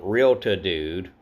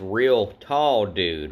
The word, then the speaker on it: Real Tall Dude: I've been saying Realta Dude, and then Don, thanks Don, told me, it says Real Tall Dude, right?